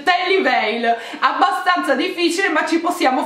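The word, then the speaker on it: Tally Weijl: mai saputo pronunciare ok ho scoperto che si tratta di un marchio svizzero precisamente della parte della svizzera in cui si parla tedesco e si pronuncia che liberi ok quindi abbiamo ragione a dire la v in quel modo ma non pensavo diciassettenni pensavo tali livelli si dice terry bale abbastanza difficile ma ci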